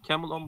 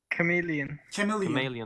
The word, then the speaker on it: chameleon: Camel on buldum. Camel on mu? Nasıl okunuyor bunlar? Chameleon.